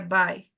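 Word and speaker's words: buy: así verdad se escribe como voy pero se pronuncia by correcto este este es el Este es el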